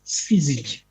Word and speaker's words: syzygy: So, it is syzygy. Yeah, that is the pronunciation.